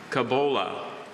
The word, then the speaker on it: cabola: Your word is Cabola. Kabul, all information, please. Cabola has no alternate pronunciations. Cabola is a noun.